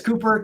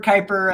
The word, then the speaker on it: Kuiper: all over the globe is that Cooper uh it is Cooper Kuiper I've heard it pronounce both ways um yeah so um